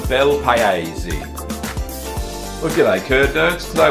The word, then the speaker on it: Bel Paese: It's pronounced Bel Paese.